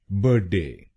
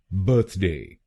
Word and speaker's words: birthday: गलत प्रोनाउंसिएशन में हम इस शब्दांश को बोलते हैं बर्ड, तो इस शब्दांश को हमें बोलना है बर्थ। बर्थ। बर्ड नहीं।